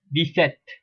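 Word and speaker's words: dix-sept: and number 7 is set, set, which is pronounced as deset, deset, deset.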